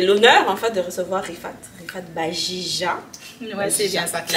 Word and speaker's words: Riphate Bajija: Aujourd'hui, j'ai l'honneur en fait de recevoir Rifat Bajija. Ouais, c'est bien ça qu'il a bien prononcé. Bajija qui est étudiante au baccalauréat GTA à l'université de Sherbrooke.